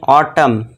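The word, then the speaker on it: autumn: यदि किसी वर्ड के अंत में एम एन हो तो वहाँ पे क्या होगा, एन साइलेंट होगा।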